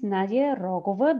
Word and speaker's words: Nadia Rogova: but all right well yes my name is nadia rogova that's the right spelling of my name no right pronunciation of my name i come from bulgaria